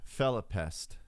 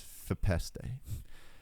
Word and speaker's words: Fepeste: Not Felipest, it's Fepeste, as I had once incorrectly pronounced it when I first talked about his music.